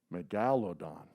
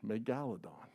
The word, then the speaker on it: megalodon: say it wrong but if you look at the spelling it's meg gal odon megalodon all right now let's